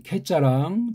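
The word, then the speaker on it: καί: 그러니까 이게 현대에서는 이걸 갖다 애자에 가깝게 발음들을 하잖아요. 그래서 이거 캐 그래요.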